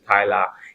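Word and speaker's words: Tyla: Some of us say Tila, some of us say Tyler. If that is not even the actual way of pronouncing her name.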